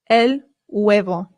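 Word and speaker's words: huevo: The H in Spanish remember is always silent. Always. Always. Always. I always hear Americans say and that is not correct. It is elo.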